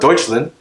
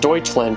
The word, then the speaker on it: Deutschland: have played walked off one map fact about deutschland 65 of all autobahn or highways have no